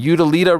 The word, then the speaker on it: Utilita: They are fighting at the, what is that, the Utilia Arena? How do you say that? The Utila, what is that? Utilita? The Utilita Arena in Birmingham, in the West Midlands.